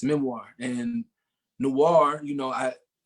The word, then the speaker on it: noir: it's a memoir and noir you know i it rhymes with memoir i'm a rhymer uh